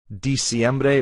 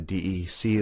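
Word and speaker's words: diciembre: hear octubre just because it's english in its pronunciation but it's not ok the last one that's a common mistake is di siembre many students will write a d and they're dec like in english december but it's not as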